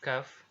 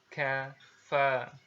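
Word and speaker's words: كاف: bahasa Arab ini, yaitu huruf K ini diucapkan ya dengan mengangkat pangkal lidah kita ke posisi di depan huruf Qaf ya. Diucapkan dengan mengalirkan nafas kita ya. Perhatikan, kalau huruf K biasa itu kan aliran nafasnya nggak keluar ya, tapi kalau huruf Kaf yang bunyinya K ini dia ada sedikit aliran nafas gitu yang keluar.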